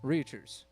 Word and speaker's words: Reichers: Your leader, with 5 seconds to go, is still Brad Reichers. And if I'm saying that wrong, please tell me how to say it. I will say it right. Reachers? All right. Reachers.